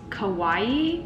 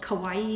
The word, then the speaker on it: kawaii: This last aesthetic that I'm gonna do for you guys, I believe it's pronounced kawaii, like Hawaii, but spelt with a K.